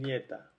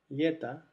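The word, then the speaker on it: лето: todos los otros casos, cuando la o no está acentuada, se pronuncia a, aquí tenemos la e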